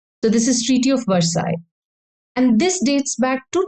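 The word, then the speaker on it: Versailles: dou L S is silent so it is pronounced as Versa not not verses so this is treaty of versai and this dates back to 1919 the year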